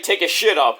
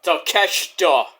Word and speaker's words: Takeshita: People say take a shit up, because it sounds and looks like take a shit up.